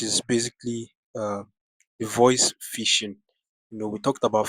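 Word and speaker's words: phishing: h i s h i n g that's fishing then Vision starts with a v v i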